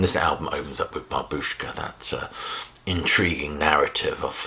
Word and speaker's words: babushka: word for grandmother is babushka the stress is on the first syllable rather than babushka and the excellent cover